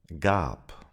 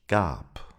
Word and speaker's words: Gab: Gab. For example, I gave. Ich gab. Here as well, the B sounds like a P.